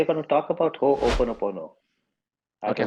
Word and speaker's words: Ho'oponopono: Yeah, it's you can break it into three parts, I would say. So Uh-huh. Ho'opono, and then Pono. Ho'opono Pono. So it's an Hawaiian word.